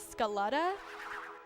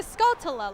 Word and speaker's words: Skulltula: dyslexic or something but I thought that their name was Scaletta and I didn't know that I was saying it wrong until I started streaming and someone was like what's a Scaletta and then there is like it's two Skulltula Lauren I didn't know how